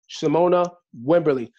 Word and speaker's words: Shamonia Wimberly: Shamonia Wimberly. Shamonia, did I pronounce that correctly?